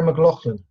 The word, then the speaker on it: McLachlan: done the same thing isn't it pronounced Sarah mlan yeah probably and I'm sure I've